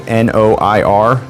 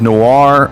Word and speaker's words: noir: Alexa, how do you say N-O-I-R? I pronounce that noir, but I'm always working on how I say things and I might not have it right.